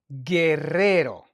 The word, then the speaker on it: Guerrero: So we don't pronounce the U. We don't say gu. We say G. And the word we have here for that is Gerero. Guerrero.